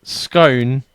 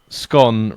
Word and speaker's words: scone: Is it scone rhyming with known, or is it scone rhyming with nom?